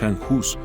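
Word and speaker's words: Jan Hus: Hoy conoceremos la historia de Juan Hus, así como se pronuncia en español, aunque en su lengua original, el checo, su nombre es Han Jus, un hombre cuya vida marcó profundamente el rumbo espiritual de Europa.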